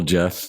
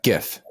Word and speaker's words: GIF: It's GIF. No, it's GIF. GIF, like the peanut butter.